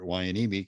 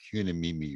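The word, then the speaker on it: Hueneme: first duty station was port wyanimi california of course i didn't know that's how you pronounced it it it looked like you me me or something to me and i had wow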